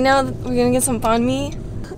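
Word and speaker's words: Bánh mì: Right now, we're gonna get some Bahn Mi. It's pronounced Bahn Mi, to be precise.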